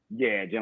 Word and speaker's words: Gin: Jin like the drink.